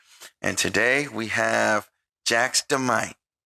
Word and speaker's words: Jaxdamite: and today we have jax demight is that how you pronounce it is it jax the might yes sir you already know all